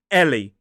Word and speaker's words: Ellie: The shortened form of this is Ellie. 2 syllables, stress on the first.